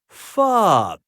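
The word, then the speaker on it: pho: pick pono Oh No this delicious soup is pronounced fob if that names taken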